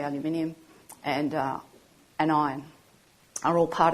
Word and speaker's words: aluminium: I know you pronounce it differently, but we say aluminium, and iron are all part of the humic molecule.